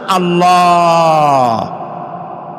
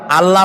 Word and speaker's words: আল্লাহ: আল্লাহর নাম আল্লাহ, বলেন তো? আল্লাহ নয়, কিন্তু আল্লাহ হচ্ছে অশুদ্ধ, শুদ্ধ হচ্ছে আল্লাহ। বলার সময় মুখটা গোল হয়ে যাবে।